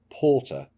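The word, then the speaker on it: poorter: was probably not granted porter p double o rter which means permanent residency rights either he said he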